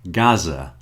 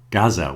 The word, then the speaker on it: Gaza: It's never pronounced like that in English. Okay? It's going to be a Z. So, here are some words. The first one came up in conversation this week. Gaza. Gaza.